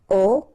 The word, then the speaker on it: au: You write it a, u, you pronounce it o, okay?